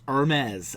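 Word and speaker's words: Hermès: address that look i screwed up i said hermes uh you know and i i jokingly said to the person well it's better than having saying herpes you know so it's hermes i know so thanks for the people that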